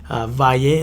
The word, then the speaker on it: Valle: Valle is spelled Valle. For those of you that haven't caught on now, it's like Valley but without the Y.